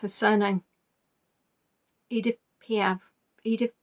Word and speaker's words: Piaf: See, I know how to pronounce her surname. Edith Piaf.